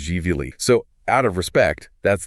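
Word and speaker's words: Gvili: It's pronounced jvi.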